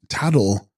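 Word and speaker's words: Btags-grol: with turquoise combine them text TGs Groll pronounced tattle a small Tibetan work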